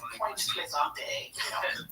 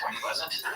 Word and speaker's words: Point Pleasant: thing, a quick thanks to everyone sending in pronunciation information on the local towns in this story. Like Point Plaisante, just kidding, it's Point Pleasant.